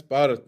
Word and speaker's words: Bhauth: Did I pronounce it correctly? It's Barat.